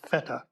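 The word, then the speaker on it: Fette: rooms feta carpet it's spelled Fe tte but pronounced feta was woven over a period of 20 years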